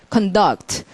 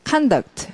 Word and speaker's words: conduct: 이 단어는 이제 명사일 때하고 동사일 때 발음이 많이 달라요. 자, 동사일 때는 소리가 conduct. 자, 명사일 때는 conduct. 이러니까 아주 굉장히 다른 단어 같습니다. conduct과 conduct는 스펠 똑같은데도.